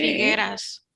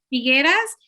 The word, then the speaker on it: Figueras: Sus cuadros se expusieron en el Teatro Figueres, ay, ¿cómo se pronuncia de donde vive? Figueras. Figueras, y más tarde es donde construyó su museo, en ese teatro.